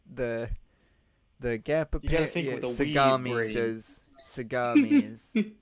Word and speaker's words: Sagami: Bay seamy Sega you seamy I feel I'm pronouncing that wrong but okay I think it's seami yeah the the gapa pami does sagami sagami Bay does soundi the gapa parents ravage cities